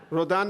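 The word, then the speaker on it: Rodin: Rodan. Rodan is very good pronunciation as well.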